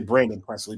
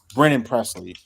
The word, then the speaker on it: Brennan Presley: I didn't want I I was gonna say brenon Presley but it's Brennan Presley um and he's uh